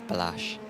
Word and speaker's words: Balázs: How do you pronounce his name? I pronounce it as Balázs.